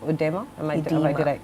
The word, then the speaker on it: edema: So to today's topic, swollen feet and legs, and I understand it's called peripheral edema. Edema. Edema. The O is not pronounced.